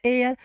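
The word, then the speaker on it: heir: ई आई आर लिखा यच silent हुआ तो हो गया एयर।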